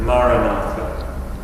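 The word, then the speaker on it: Maranatha: recommend the prayer phrase maratha maratha means come Lord but repeat it as four syllables of equal length M listen to it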